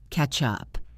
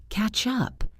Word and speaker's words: catch up: Listen to how natural it sounds. Catch up. It blends together. Catch up. It almost sounds like ketchup, the sauce.